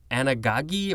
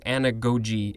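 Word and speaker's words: anagoge: seen this before and maybe i've pronounced it anagagi or anagri who knows but i think it's it's saying anagogi is correct this is a noun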